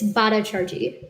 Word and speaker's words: Bhattacharjee: Senator Bhattacharjee, is that how you pronounce it? It's Bhattacharjee.